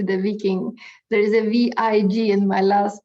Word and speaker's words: vig: Sometimes the word is written V-I-K, but during the period of the Danish, what we call union or occupation of Norway, they pronounce the K a little more G, so it's V-I-G.